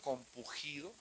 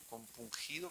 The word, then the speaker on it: compungido: si sea correcto decirlo, compugido. Compungido, ¿cómo se dice? compungido.